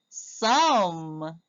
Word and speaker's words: some: Now in this one, the E at the end is silent. S, mm, s, s, some. We do not hear the E.